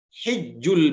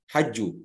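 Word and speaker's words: حج: Tapi kalau hijju, ini dalam bahasa yang berbeda-beda ya, tergantung kabilah mana yang bacanya. Ada yang menggunakan kata-kata hijju, ada yang menggunakan kata hajju.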